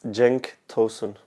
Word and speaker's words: Cenk Tosun: now I must have had about 50 different pronunciations of your name could you just say your name for us its Genk tausend Jake Tolson yeah okay perfect everyone will forget